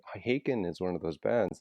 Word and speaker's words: Haken: but I have always called it Hawken, and then somebody finally told me no, it's pronounced Haken, and Right.